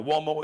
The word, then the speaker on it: Uomo: Now Uomo is an Italian name, so it sounds like it would be spelled with a W, Mario Uomo, but it's U.